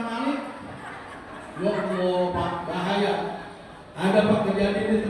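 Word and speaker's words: مالك: Alhamdulilla alamin ngahmanirin malingimin maling bukan malik.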